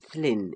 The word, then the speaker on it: Llyn: When the Romans came, they could not pronounce the word Llyn, Llyn in the British way, and called it Lon, hence their word Londinium.